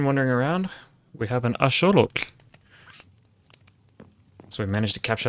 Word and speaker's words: axolotl: And if you're wondering about that pronunciation, it's axolotl, not axolotl. Axolotl, well, it's fun to say. It's not correct. It comes from, the word is actually a Nahuatl word, which is the native language in Mexico.